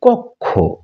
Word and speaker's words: কক্ষ: রূপ বা সমন্বিত রূপ এরপর আমরা এটিকে বলি কক্ষ শুদ্ধ উচ্চারণ হচ্ছে কক্ষ যেমন বক্ষ নয় বক্ষ ইত্যাদি